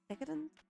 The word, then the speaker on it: decadent: Uh, how do you say I think it's decadent. That's where I think you see the emphasize. Decadent. Yeah, it is. I was saying it right.